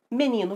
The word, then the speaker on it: menino: Qual é a sílaba tônica de menino? Se imagine na frente da casa da palavra, gritando por ela. Menino! Menino! Sílaba tônica, ni. Isso aí!